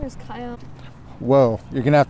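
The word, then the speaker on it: Kaian: My name is Kyan. Whoa. You're going to have to spell that for me.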